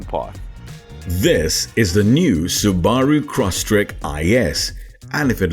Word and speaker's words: Subaru: meh oh and yeah the correct way to say it is Subaru not Subaru but Subaru got it took me a while too but we can